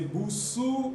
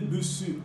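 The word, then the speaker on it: Busuu: Je ne sais pas si je dois prononcer Boussou ou Bussu. Moi, je dis Bussu à la française.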